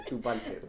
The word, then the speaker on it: Ubuntu: Linux browser sorry now Ubuntu she pronounced that wrong is Ubuntu Ubuntu yes or like Chrome we